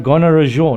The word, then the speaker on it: Gonarezhou: Gonarezhou, not Yes, Gonarezhou.